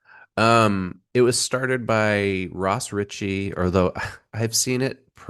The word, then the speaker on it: Ross Richie: Um, it was started by Ross Richie. Although I've seen it said that it's supposed to be pronounced Raz Richie and Andrew Cosby u both of whom worked